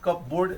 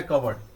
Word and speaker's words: cupboard: देखने के लिए ये दिखाई दे रहा है CUPBOARD, कप बोर्ड, लेकिन इसको पढ़ना है कवर्ड।